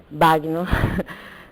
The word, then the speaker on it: Bagno: Em italiano, a gente pronuncia banho com A aberto, né, e nhê. Né? Muitas pessoas falam banho, mas nós mesmos, na família, já falamos bagno.